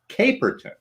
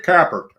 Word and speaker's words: Caperton: but uh yeah well i have my name spelled out phonetically with k-a-y at the top dash p-e-r-t-o-m accents and everything you know so they know it's caperton and i still they just ignore it carper you know i'm kind of famous